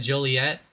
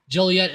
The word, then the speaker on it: Joliet: I guess you'd pronounce that Joliet. Joliet, Illinois, about 40 miles southwest of Chicago.